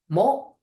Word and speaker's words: む: here which is a m line right ma mo and we are doing Mo today so this